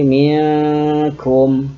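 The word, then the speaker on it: مِنْكُمْ: Cara membacanya adalah dengan menyamarkan bunyi min tadi karena ketemu dengan huruf kaf. Huruf kaf ini huruf qaf merupakan 2 dari 15 huruf-huruf ikhfa. Kalau ini dibaca menjadi minkum, ini syai'in qadir, seperti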